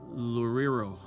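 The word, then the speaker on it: Loureiro: Kiko Laredo from Lorero. That's reading it. I never realized that's how you pronounce it.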